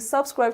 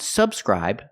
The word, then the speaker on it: subscribe: stress of the word it's not subscrib to my channel but subscribe to my channel we have to move the stress to the second syllable again not subscribe but subscribe we see the stress is on the second syllable subscribe to my channel